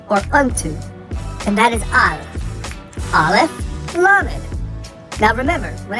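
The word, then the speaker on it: אל: Al is also the short form of the word Elohim, which is a title of Yahuwah, meaning a mighty one. Many in modern Hebrew pronounce it as El.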